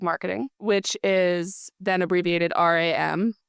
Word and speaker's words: RAM: RAM is Random Acts of Marketing, which is then abbreviated RAM, which can then be pronounced RAM.